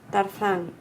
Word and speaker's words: Tarzan: The reason you have a problem is because you've always been listening to the Spanish Tarzan. pronunciation.